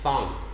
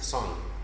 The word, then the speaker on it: song: You're saying thong. It's not thong. It is song.